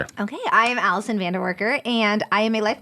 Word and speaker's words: Vandewarker: It's Vanderworker. Yes, Vanderworker. I sometimes Anyway, I won't go into the ways I pronounced it.